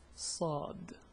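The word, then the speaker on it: ص: The pronunciation is Sa. It's like an S but it's totally stronger. So I think, well, let's see, if I say sa, sa, sa, sa, I hope you notice the difference.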